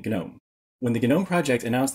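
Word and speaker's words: GNOME: genome to desktop environment yes we pronounced the G and genome when the genome project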